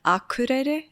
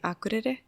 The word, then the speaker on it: Akureyri: They like pronounce the town Akureyri instead of we would say Akureyri.